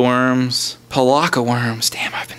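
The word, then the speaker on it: Pelakka: Okay, I'm not playing with the Pekala Worms. Palaka Worms.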